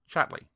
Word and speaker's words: Chatterley: Why isn't Lady Chatterly good to you? My word, you're a lucky girl this morning. She pronounced the name as all people did. Chatley.